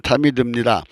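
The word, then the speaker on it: תמיד: 음역으로 히브리어 타미드라는 말인데요, 발음은 타미드입니다.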